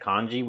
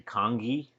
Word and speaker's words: congee: excellent topping for that kanji we made or I've been told that I mispronounced it I've been told that I've been mispronouncing it and it's supposed to be congee um but I think that